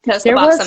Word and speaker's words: Suboxone: No, Suboxone, that's how you say it.